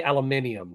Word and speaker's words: aluminium: At least he doesn't say aluminium. So, that's Well, it's spelled different in the UK, so that's the reason why it why it's pronounced different.